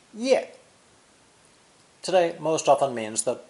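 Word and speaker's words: 页: or most important two the head with legs variant of the head pictogram pronounced ye today most often means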